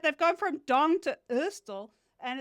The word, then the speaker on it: Ørsted: is, you say in Danish, you say the D with like your tongue and your lower teeth, like and if you like look like you're about to throw up, then you know that you're saying it right.